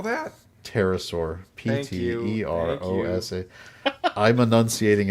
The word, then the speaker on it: Pterosaur: Yes, discovers the petrosaur in North America, the largest known genus of the species at the time, with a wingspan of over 20 feet. Spell that? Pterosaur.